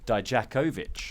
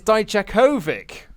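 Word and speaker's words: Dijakovic: for so turns out we've been saying his name wrong die Jack ovitch yeah it's Deitch Kovic yeah died you Kovach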